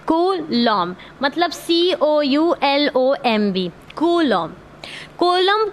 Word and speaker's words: Coulomb: इसको कूलम्ब, कोलम्ब ऐसे बुलाते हैं इसका, जबकि नाम है कूलम्ब। क्या नाम है? कूलम्ब, मतलब COULOMB, कूलम्ब।